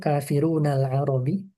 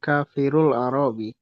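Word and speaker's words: كافرو العرب: Nah, yang benar seperti apa? Kafiruna. Kafiruna. Oh, jadi kafirul arabi. Iya, betul. Kafirul Arabi ya. Kalau diwasal langsung aja bacanya kafirul arabi. Kalau dipisah kafir alarabi. Kafiru alarabi. Iya. Nunnya harus dihapus karena dia jamak mudzakar.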